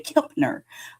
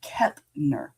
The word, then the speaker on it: Kepner: And so when I see that word, I want to put the M in there and say Kepner. And it's not, it's Kepner.